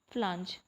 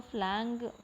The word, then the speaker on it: flange: इसको हम बोलते हैं फ्लांज, FLANGE, फ्लांज, ठीक है। इसको फ्लैंग भी पढ़ सकते हो बट फ्लांज करेक्ट प्रोनाउंसिएशन है, तो ड्रम फ्लांज बोलेंगे इसको, ठीक है।